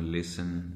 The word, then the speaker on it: listen: इसी तरह S और T दरमियान में कहीं आ रहे होते हैं, बाज़ औक़ात हम उसे साइलेंट कर देते हैं T को, जिस तरह लिसन, LISTEN कर देते हैं,